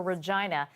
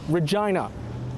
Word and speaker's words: Regina: There's been some controversy over a recent tourism push for Regina.